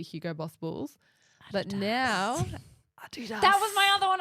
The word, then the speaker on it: Adidas: Adidas. Adidas. Adidas, however you want to pronounce it, wherever in the world you are, but in Australia it's Adidas to us.